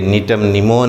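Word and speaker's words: Gnetum gnemon: Spelling जी से शुरू है लेकिन जी साइलेंट है। ये नीटम निमोन है, ये गिंगो बायोलोबा है, दोनों ही जिम्नोस्पर्मी पादप है।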